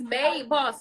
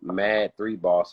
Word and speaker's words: MAD3 Boss: want to butcher it a lot of people be like mad three boss i'd be like no that's not it exactly because it don't